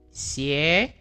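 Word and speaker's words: 鞋: Xie. Xie. Karena ada X sama Y, berarti bacanya xie, sepatu.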